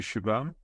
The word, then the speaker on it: Shubham: running nice to meet you shabam is that the way I should pronounce your name yeah yeah you are pronouncing it correct yeah perfect perfect um